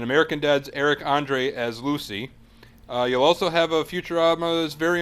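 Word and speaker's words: Luci: Lucy, or something, L-U-C-I, however you want to pronounce it. Lucy.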